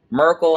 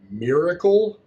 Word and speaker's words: miracle: how it is y'all miracle what Merkel on 34th Street miracle what did you just pronounce every single letter in there that's how you say words not Miracle her face Mrs coffee